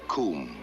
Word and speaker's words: cwm: of the western comb a coomb that is spelled cwm it's a welsh word meaning a glaciated valley